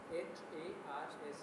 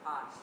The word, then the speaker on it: Harsh: H-A-R-S-H, but it's not pronounced harsh. It's harsh.